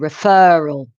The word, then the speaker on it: referral: That's reference with the stress on the first syllable, reference, referee with a stress on the third syllable, and referral with a stress on the second syllable.